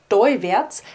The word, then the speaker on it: toiwärts: Hier sehen wir, dass das AL zu einem Oi wird, teuwärts, wie auch zum Beispiel bei kalt, das zu koid wird.